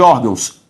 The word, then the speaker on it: órgãos: tônica de intransferível ri sílaba tônica de órgãos ó beleza todas são palavras